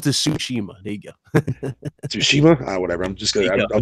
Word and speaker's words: Tsushima: progressing with Last of Us and Ghost of Sushi and whatever. So it's not too bad. No, I can never pronounce it.